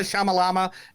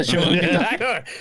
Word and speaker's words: Shyamalan: We got Shalika Shamalama and Ariel Shamalama Ding Dong. Yeah. Shyamalan.